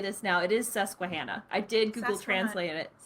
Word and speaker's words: Susquehanna: It is Susquehanna.